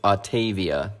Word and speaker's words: Autavia: It's a portmanteau, I found out, between automobile and aviation. So aviation, or AVA. So, Autavia. No, you see, I was breaking it down correctly and I still said it wrong. It's Autavia.